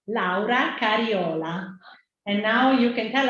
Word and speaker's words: Laura Cariola: up in Germany so I say my name between English and German or something it's Laura or Laura cariola and when I am